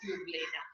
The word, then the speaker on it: euglena: And there it's E is there, E is silent. That's why we are pronouncing it as euglena.